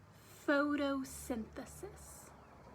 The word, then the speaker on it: photosynthesis: super big word right this one has a funny sound at the beginning do you remember photosynthesis it has that fuck-fuck sound at the beginning that sounds like it would be an EPS but there's no F right it makes that sound because it's a P and an H together photo synthesis in photosynthesis